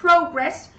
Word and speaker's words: progress: Thì ở đây chúng ta thấy này, đọc này progress, progress như vậy trọng âm 1 đúng chưa?